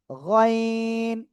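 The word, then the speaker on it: غين: গইন। গইন, ওই একই জায়গা থেকে উচ্চারিত হবে, 3 আলিফ টান হবে।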